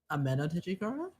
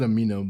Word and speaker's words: Ameno Tejikara: Ameno Tejikara? Yeah. When he swapped places with the statue to dodge the axe. Repeat what you said? I said Amino, but yeah.